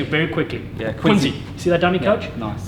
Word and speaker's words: Quincy: venue down there so i finally know how to say it right the locals have been teaching me all week it's the afrikaans english accent i have it doesn't quite ring off the tongue quincy i've got to say